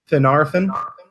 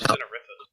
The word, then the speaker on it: Finarfin: I thought it was Finarifin. There's an And I in then- there. Finarfin. Narfin. An Orphan. Fin. It reads exactly as it's spelled, so not a problem.